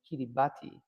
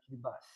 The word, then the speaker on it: Kiribati: So, we went to a session given by what I thought was pronounced Kiribati, but it's actually well, they pronounced Kibas.